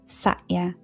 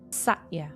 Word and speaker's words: Satya: The second, Yamas, is Satya.